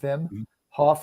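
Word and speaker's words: Wim Hof: brendan and then uh vim hoff uh so it's spelled w-i-m that's his first name vim hoff hof he's got bazillion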